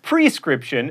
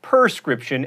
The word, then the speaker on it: prescription: friend is Patty mayonnaise it's prescription not perscription and realtor is only